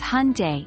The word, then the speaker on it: Hyundai: This car brand is pronounced as Hyundai, similar to Sunday.